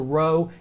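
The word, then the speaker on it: rho: me to master but it's a row it's an hour sound either rabbi or Rebecca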